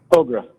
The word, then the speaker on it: Hogrefe: Hogrefe, can you let me know how to pronounce that right? Hogrefe. Hogrefe, thank you.